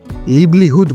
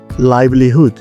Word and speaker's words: livelihood: বেশিরভাগ মানুষ এটিকে ভুল করে লিভলিহুড বলে থাকেন। কিন্তু আসলে এর শুদ্ধ উচ্চারণ হচ্ছে লাইভলিহুড।